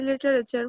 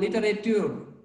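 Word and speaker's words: littérateur: Syed Samsul Haq, a legendary literature, was born in আচ্ছা, Kurigram. একটু বলে রাখি এখানে লিজেন্ডারি তোমার লিটারেচার শব্দটা হবে না, এটা হবে তোমার লিটারেটিওর, ঠিক আছে, টি Literature.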